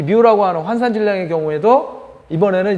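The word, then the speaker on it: μ: 뮤 값이 어떻고 저건 뮤라고 읽습니다. 우리가 보통 뒤에다가 M을 갖다 붙여서 마이크로미터 이렇게 이야기를 할 때는 접두사로서 마이크로라고 읽지만은 뭐라 그럴까? 저 이제 접두사로서 저렇게 이제 읽을 때는 K는 카파라고 읽고요. 저 뮤는 그 다음 거는 이제 뮤 이렇게 이제 읽어요.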